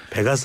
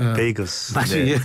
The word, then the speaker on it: 베이거스: 베 아 예 좋습니다 베가스 아닙니다 베이거스 우리 라스베가스 라스베가스 라스베이거스에서